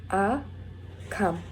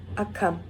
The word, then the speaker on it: akkam: Again, it's pronounced a-kam, akkam.